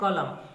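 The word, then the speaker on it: column: क्या होता है कतार तो यहां लास्ट अक्षर क्या है हमारा लास्ट लेटर एन है और एन के तुरंत पहले क्या है एम है तो यहां एन का उच्चारण नहीं होगा ठीक है कॉलम कॉलम यानी कतार तो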